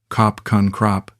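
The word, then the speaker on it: ขอบคุณครับ: She taught me basic Thai phrases, correcting my pronunciation with patience I didn't deserve. "Sawadi krap." That mean hello. "Kop kun krap."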